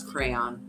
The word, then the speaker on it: crayon: to me right and if they said crown i'd be like get the out of my office you know number one pronounce crayon so you've heard people call it a crown hey have a hard